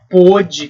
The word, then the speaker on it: pôde: Só que uma delas o som é aberto, o outro é fechado, mas o principal motivo